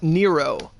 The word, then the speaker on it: Narao: But Narao is an awesome guy. Yeah, he is. He's actually, he told us his name is pronounced Nero, but like how Oro's name is O, like Nero.